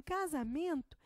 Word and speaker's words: casamento: tônica por exemplo em casamento nós temos um bem por que que é o Man ora porque eu não digo casamento e nem casamento eu digo casa mento Então me é a minha sílaba tônica